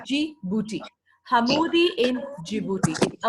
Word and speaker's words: Djibouti: we see this claim this bee is silent we don't say the D it's only G booty huh movie in Djibouti